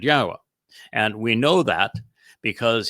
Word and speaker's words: Yahowah: I go through this with you and use these 4 words because they prove emphatically that the proper pronunciation of Yahweh's name is as I have pronounced it, Yahowah.